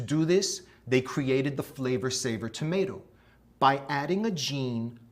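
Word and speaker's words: Flavr Savr: It was called the flavor saver tomato. That's spelled F L A V R S A V R.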